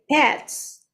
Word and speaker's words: pets: Oh, Ibrar, so I just want to mention about your pronunciation of pets, because I feel like I hear R when you say pets. It's like parrots.